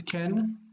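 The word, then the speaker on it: כן: how do you say no sorry yes it's Ken okay so you take an that's a comma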